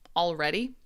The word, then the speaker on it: already: How to pronounce the word already? Already? Like this? Already? Which is different from alrighty. This is a casual form of all right. So the difference is this sound right here.